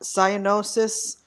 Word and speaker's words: cyanosis: two quick things um it's cyanosis because i'm a nurse you know that cyanosis and paticcii those are the way to pronounce it if you ever if